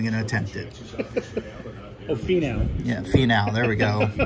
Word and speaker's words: Finau: You got Hudson Swafford, Fresh Foundations, Tony Finau. I don't even know how to pronounce that. I'm not even going to attempt it. Oh, Finau.